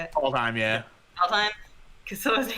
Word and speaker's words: Kaldheim: Kaldheim, yeah.